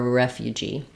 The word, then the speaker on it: refugee: You are a refugee or refugee.